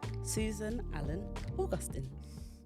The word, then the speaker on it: Susan Allen-Augustin: Co-founder of Flow, Susan Allen-Augustin.